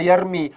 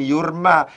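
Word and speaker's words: يرمي: awwapp usir wafatnya almarhum lahir bacaannya yarmi bukan yurma karena demikian ini disebut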